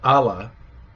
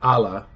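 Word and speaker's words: ʻala: me if I'm wrong, there's a word, ala, which I've stressed how there's no okina at the beginning of that, ala, which means road or way. But if you put an okina at the beginning of it, ala, it means it's fragrant. So it's something you would say about flowers or food or something. So ala is road and ala is fragrant.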